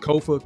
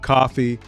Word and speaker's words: Kofa: As always, I am your host, Kofa, K-O-F-A, not coffee, not kufu, not Kofi, or any variation thereof. Kofa rhymes with sofa.